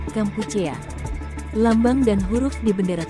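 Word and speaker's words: កម្ពុជា: Nama resmi Kamboja dalam bahasa Khmer adalah yang diucapkan Kampuchea.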